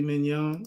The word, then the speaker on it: mignon: do you say that have you ever had filet mignon you ever have filet mignon that's that's mignon all right so I'm